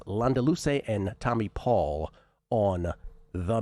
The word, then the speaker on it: Landaluce: On the men's on the men's side today the big dog Martin Landaluce with the Castellano pronunciation.